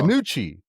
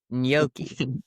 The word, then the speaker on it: gnocchi: Gnocchi. Gnocchi. So I've always said it like with a yuck in the middle. Ganucci. Oh, God. Gnocchi. Gnocchi. That's probably more right.